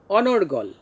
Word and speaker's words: অনর্গল: অনর্গল শব্দটার উচ্চারণ কেমন হবে? রেফের জন্য র, তাহলে অনর্গল। এখানে সব অনর এবং গল, গলের শেষে কিন্তু অ আছে, এটা এখানে আমরা ও উচ্চারণ করব না, অর্থাৎ অনর্গল বলবো না, অনর্গল।